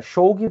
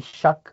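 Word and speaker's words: Shough: direito o nome dele sh é shog para quem escreve e shak de acordo com a pronúncia como você me me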